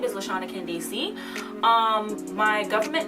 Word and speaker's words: Candacy: name is leshawna and can they see is pronounced as candy see and non Candice because a lot of people see and they pronounce it as Candice but it's candy see my parents a very extra the sixth one